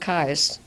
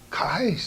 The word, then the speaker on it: Keyes: And my great-grandmother's name was Keyes, and they pronounce it Kais. Kais. Kais. Eyes. Oh, as in I can see Kaiser, why huh?